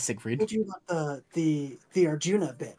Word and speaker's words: Arjuna: There is no S second R. It is Arjuna. Yeah. I didn't know that. I was doing Arjuna. A-R-J-U-R-N-A.